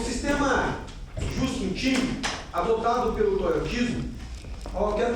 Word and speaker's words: Just-in-Time: O sistema Just-in-Time, adotado pelo toyotismo, eu quero que você grife aí esse sistema Just-in-Time.